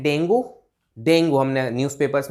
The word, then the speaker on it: dengue: लेकिन गाइज आपको ये जान के थोड़ी सी हैरानी होगी कि इसकी करेक्ट प्रोनाउंसिएशन डेंगू ऐसे नहीं है। इसकी जो करेक्ट प्रोनाउंसिएशन है वो है डेंगी, डेंगी, यस। अगर इंग्लिश में बात करें तो इसकी करेक्ट प्रोनाउंसिएशन है dinghy, dinghy, like that, dinghy, okay.